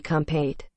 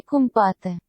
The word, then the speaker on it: Кумпатэ: Alexei Kумпатэ. I don't think that's right. In Russian. Алексей Кумпатэ. Kumпатэ. Right. So we get it right.